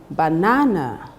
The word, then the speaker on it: banana: Now, the correct pronunciation would be banana, not banana, banana. If you look at it closely, you will discover that the second syllable is written in capital letter, which means that the second syllable is stressed in the word banana.